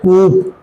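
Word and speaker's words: coup: There is a concept that is known as कूप। ठीक है, अब ये कूप नहीं है, इसको बोलते हैं कू। यहां पे फिर से क्या हो गया, पी साइलेंट, सुनने में लगा कूप है क्या, कू।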